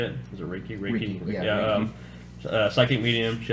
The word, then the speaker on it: Reiki: Reiki, yeah, Reiki.